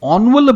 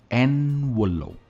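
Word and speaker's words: envelope: कई लोग इसे एनवलप कहते हैं, ऑनवलप भी कहते हैं, यह भी मैंने सुना है, पर इसकी सही प्रोनाउंसिएशन है एनवलप। एन पे स्ट्रेस आएगा, एनवलप। तो दोस्तों, मैं उम्मीद करता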